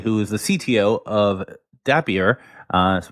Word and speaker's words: Dappier: So we're here today with Dan Goman who's the CEO and uh Chris Arva Arvapali who is the CTO of Dapier. Uh rhymes with happier I've been told.